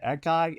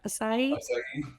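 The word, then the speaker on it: açaí: Asai. Akai. Aki. A c ai. I don't have You had it right the last time. Asai.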